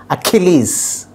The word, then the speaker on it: Achilles: as as in zip so finally it has to be pronounced as achilles so the stress is on key so that is how